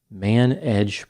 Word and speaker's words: Man Edge: The company was called Man Edge Properties. It was an attempt to be clever because it sounds like the word manage.